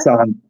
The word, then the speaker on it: Zahn: Tons, did I get it right with the German pronunciation? son.